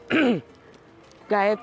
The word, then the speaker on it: Gaete: They couldn't pronounce her last name, Gaete, and they're like, yeah, whatever. And I said, Gaete is his name.